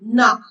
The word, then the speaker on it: knock: For example, in knock the K is silent.